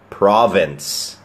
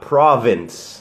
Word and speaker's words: province: Country or from Another Province อย่า ลืม ครับ คำ ว่า Province ที่ แปล ว่า จังหวัด นั้น ไม่ ได้ ออก เสียง ว่า provin นะ ฮะ ออก เสียง ว่า PR ตัว v ครับ Province อ่า เดี๋ยว เขียน ให้